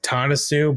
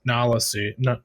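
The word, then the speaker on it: Nala Se: to clone themselves yeah I got the name wrong I wrote it down as tanasu but it's Nolla suit yeah yeah no my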